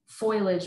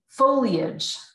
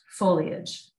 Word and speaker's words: foliage: oh my gosh um a friend of mine said foilage one day and I made fun of him for it and now I can't think about that word without saying it wrong okay foliage foliage um I might use